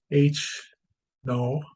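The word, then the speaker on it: H₀: competing hypotheses okay we have h o that's pronounced h no or h0 okay and we're gonna that usually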